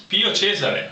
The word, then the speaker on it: Pio Cesare: What's the correct pronunciation of that? Pio Cesare. I am Cesare from Pio Cesare Winery from Italy. He does it a lot better than I do.